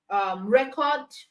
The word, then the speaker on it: record: So the noun has it on the first syllable, while the verb has it on the second syllable.